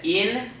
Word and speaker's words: infierno: How many syllables? 4. It's not 4, it's 3. The reason why it's 3 is because 2 of the vowels go together to form a diphthong, okay?